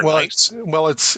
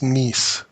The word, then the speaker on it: Nice: Or Nice? It's spelled nice, but it's pronounced Neese.